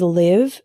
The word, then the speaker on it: live: Another example is live and live. Live with the same I as in sit means to reside.